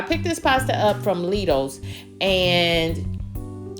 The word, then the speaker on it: Lidl: But I picked it up at Lidl's. Yes, Lidl's, and it's Lidl, not Lidl.